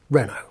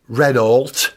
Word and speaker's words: Renault: there to say uh Mr actually you pronounce it Rena yeah extraord Absol for